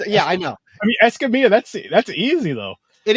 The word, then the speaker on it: Escamilla: fine uh okay so if you want to be Technical and pronounce it the the correct Hispanic way it's esamia um esia because you know double LS in Spanish or wise uh however I grew